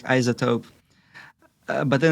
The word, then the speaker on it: iZotope: tool called isotope so it's spelled as i z o whatever I zoto or zedo if you're outside the US do you like right isotope yeah but instead of s you replace it with the Z like isotope